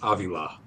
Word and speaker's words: Avila: I hate to be that guy, but it's Avila.